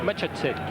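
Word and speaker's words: Macháček: Il a joué avec, il est international Macha Sec. International tchèque, figurez-vous, plus de 30 sélections. Et vous voyez, il est venu là-bas aussi. On dit Machatchek.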